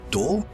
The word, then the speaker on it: D: By the way, remember in the Christmas Piece video how I mentioned that the D of the D clan is pronounced as Dor?